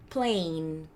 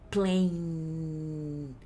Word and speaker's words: plain: vai pronunciar esse daqui, plain. Você viu que não saiu o som G? Eu parei a minha no som do N, a minha língua. plain.